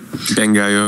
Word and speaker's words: Bangai-O: Bangai-O, yeah.